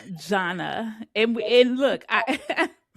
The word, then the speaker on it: Zhanna: It's Zhanna. Zhanna.